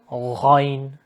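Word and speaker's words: غ: Next letter, ghain. This letter you don't need to try to vomit. It's just ghain, ghain. Okay. The difference between the shape, look at it. Ayn, no dot. Ghain does have a dot.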